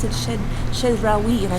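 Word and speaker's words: Chedraui: I asked her in the comments, and she said, you pronounce it Shedrawi, and I said, oh, it sounds very French.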